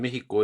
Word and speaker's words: México: Pero en México es con sh, ¿no? No son los mexicas, ¿no? Sino son los mexicas. Y, y la pronunciación castellanizada es con J, ¿no? De México, ¿no? Aunque se escriba con X, ¿no?